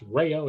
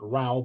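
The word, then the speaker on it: Rao: Uh I'm actually by my last name is pronounced as if there were a Y between the A and the O. It's Rayo, not Ralph.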